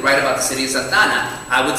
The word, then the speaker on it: Santa Ana: And if native Spanish speakers were going to combine them, you'd use a process of elision and call it Santana.